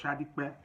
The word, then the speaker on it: Sadiq: My name is Sadiq, but it's pronounced Shadikbe.